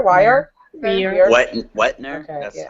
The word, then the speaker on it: Weir: Weir? Wire? Weir. Wetner? Okay, That's yeah. how I think I pronounce it. Weird?